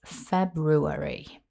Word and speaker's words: February: I've picked just one pronunciation to focus on for today's video, and that is February. Let's break it down into syllables. It starts with the stressed first syllable Feb.